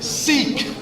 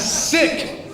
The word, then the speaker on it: Sikh: It's not pronounced Sikh, it's sick.